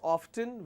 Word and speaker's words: often: Some people pronounce often as often, which is fine, but still you have the f sound there.